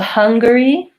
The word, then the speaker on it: Hungary: let's write that out so hum ring so hungry is like finger where we say both the